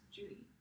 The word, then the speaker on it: Juri: And she goes by Julie, but her name is Juri, which is pronounced Judy in Japan.